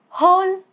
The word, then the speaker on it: whole: Example, simple, who, whoever, whole. No sound of W. Letter X. It is silent at the end of a word derived from French.